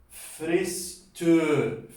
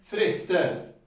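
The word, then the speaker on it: fyrstur: Sería fristur, fristur, fristur. No tiene tanta gracia, tiene que ser frister, ¿no? Frister. Es como una A corta.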